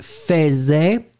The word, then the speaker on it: faisait: C'est bizarre, on écrit faisait, on prononce faisait.